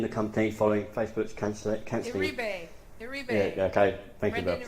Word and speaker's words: Iribe: So Oculus co-founder and Facebook's head of PCVR, Brendan, is I can't not pronounce his last name, but is leaving the company following Facebook's cancelling. Iribe.